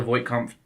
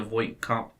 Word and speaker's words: Voight-Kampff: So when he goes to visit Tyrell, he performs a Voight-Kampff. Okay, I want to make sure I'm saying it correctly. So when he goes to visit Tyrell, he performs a Voight-Kampff.